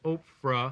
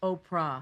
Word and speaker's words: Oprah: You know, I was mispronouncing your name all last week. I was under the impression it was Oprah. I bet you were calling Winfrey. Oprah. Yeah. Oprah, but it's not. No, it's Oprah.